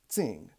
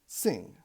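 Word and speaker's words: xing: it's about transcription naturally this is not pronounced Zing it is pronounced sing it is nature and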